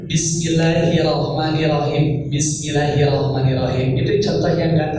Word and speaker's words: Bismillahirrahmanirrahim: ya Bismillahi irahmanahim I setiap yang ada taskid ya harus rasakan kerasa ada dua huruf di mana Di antara